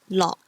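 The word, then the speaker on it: 樂: Finally, OK is like ok from luck. Example, lock, which means happiness.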